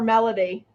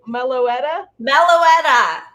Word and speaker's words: Meloetta: want to call her melody all right that's fine but that's not how you say it it's milo meloetta she is the special